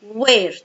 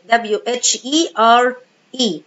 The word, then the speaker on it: where: طيب الكويستشن ووردز بقى عندنا where W-H-E-R-E اللي هنا الاتش هنا I don't pronounce it where is used to ask about places.